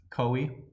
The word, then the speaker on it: koi: I'm assuming it's koi. Yeah, Koi is the correct pronunciation. Everybody here in the Midwest says koi. Wrong.